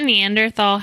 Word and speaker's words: Neanderthal: I always thought Neanderthal had an H in it. It does, so that's what's pronounced Neanderthal. It's tahal, but you just say tall. Like Thomas. Hmm.